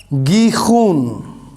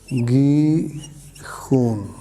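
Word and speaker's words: גיחון: ہیں تو یہ ہے گیخون، گیخون، اس طرح سے اس کا تلفظ ہے عبرانی زبان میں۔ تو یہ دوسری ندی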